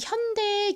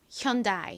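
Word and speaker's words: Hyundai: 굉장히 혼란스러워하는 경우가 많아요이 현대의 경우에도 현대라고 읽는 원어민들이 잘 없고요 하윤이 현다 뭐 이런 식으로 요상하게 읽습니다 아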